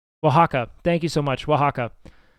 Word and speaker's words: Oaxaca: I don't think am I pronouncing it correctly? Oaxaca.